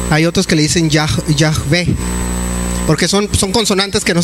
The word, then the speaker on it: Yahvé: Muchos dicen que se debe de pronunciar Yahweh. Yahweh es equivocado porque no existe la W en el hebreo, es la B, es Yahvé o Yahová.